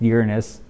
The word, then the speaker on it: Uranus: And by the way, it is pronounced Uranus, not, the other way.